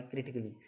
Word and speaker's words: critically: जैसे दूसरा है, आप दूसरा उदाहरण भी देख ली, CRITICALLY क्रिटिकली, यानी कि ए के बाद डबल LY।